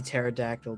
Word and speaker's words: pterodactyl: The empty pterodactyl, the P is silent.